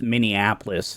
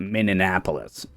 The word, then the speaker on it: Minneapolis: The And for the record, it's pronounced Minneapolis, not Minneapolis, just so you know.